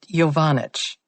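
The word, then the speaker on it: Jaenicke: a funny little bump it's pronounced yanic you know him she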